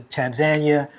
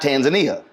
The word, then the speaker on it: Tanzania: was like, it's not Tanzania. I don't think people really care. I think the proper way to say it is Tanzania, but I don't see anybody challenging anybody when they say Tanzania.